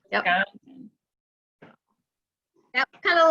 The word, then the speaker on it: Wisconsin: And it's the emphasis on the C-O-N. Yep, Wisconsin. Yep. Wisconsin.